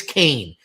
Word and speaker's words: Kane: And I was like, "I know it looks like Keen, but trust me, it's Kane.